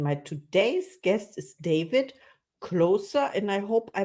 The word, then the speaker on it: Kloser: today's guest is David closer and I hope I pronounced your name right yes it's got an Austrian background so yes it's closer like a relief pitcher in baseball oh that's great okay